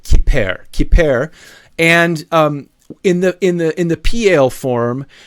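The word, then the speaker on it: כפר: So pronounce it kiper.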